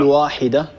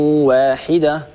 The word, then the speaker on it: واحدة: لا تفخم الواو أخي عبد الله، لا تفخم الواو، لا نقول واحدة. وإن هذه أمتكم أمة واحدة وهكذا، ولا نقول ولا نفخم الواو، الواو لا تفخمها العرب أبدا.